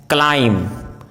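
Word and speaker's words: climb: यदि किसी वर्ड में एम बी या बी टी साथ में हो तो बी का उच्चारण साइलेंट होता है, जैसे bomb, com, टॉम, लैम, क्लाइम, डम, थम, प्लमर, डेट, डाउट, शटल।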